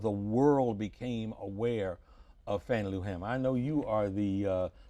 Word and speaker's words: Fannie Lou Hamer: You know, for decades I've pronounced her name Fannie Lou Hamer. And you're still doing it. And I know, and I still do it now. It's Fannie Lou Hamer.